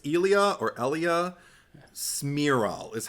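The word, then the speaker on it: Cmiral: I don't know if it's Elia or Elia smiro is how it's pronounced but it's spelled in a really weird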